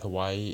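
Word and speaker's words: Hawaiʻi: know my problem with Hawaii is that or to say it and how it's supposed to be pronounced Hawaii you hear that that's a glass of stop Hawaii that's a glass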